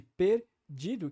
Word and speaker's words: perdido: parte do português brasileiro o som do e de perdido que é antes da da sílaba forte que é di né perdido é um som Fechado só que por estar